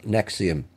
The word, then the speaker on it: NXIVM: Now, the women in their 30s and 40s belonged to a self-help organisation called NXIVM. Now, it's pronounced NXIVM, but it's spelled NXIVM.